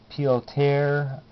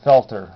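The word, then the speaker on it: Peltier: I believe it's pronounced pelt or pelter. Pilt piltier. I I called it felter which was very wrong and I apologize everybody for the misprononunciation.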